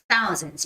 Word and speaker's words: thousands: to day life and thousands always the th sound is tricky for koreans and japanese right so thousands thousands don't say that as the s sound it's not yes it's gonna be t a th so it's thousands you see how my tongue is sticking out thousands thousands right thousands